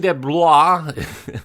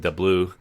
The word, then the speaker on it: DeBlois: Dean DeBlois, I think I'm pronouncing that name almost correct. Some people pronounce it DeBlois, is the writer and the director.